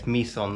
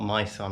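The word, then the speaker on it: My Son: the Misan Sanctuary yeah it's Misan not myON I pronounced it wrong this morning but um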